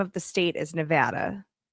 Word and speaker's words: Nevada: So it it is the way you pronounce the name of the state is Nevada.